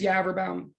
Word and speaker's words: Yaverbaum: But first of all, so my name is Yaverbaum. It rhymes with Cadaverbaum. It rhymes with Cadaver Town, even, I guess.